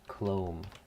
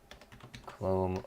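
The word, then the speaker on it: clomb: in my pronunciation dictionary c-l-o-m-b clone clone word rhymes with poem and the fun thing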